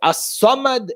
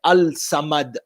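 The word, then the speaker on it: الصمد: silent ashams for example the letter lam in the word assamad is also silent you don't say al-samad you say asad the fact that the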